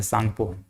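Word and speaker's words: Tsangpo: कहा जाता है ऐसे, तो सांगपो लिखाता है, लेकिन ये टी साइलेंट रहता है, सांगपो, ये सांगपो बोलते हैं इसको।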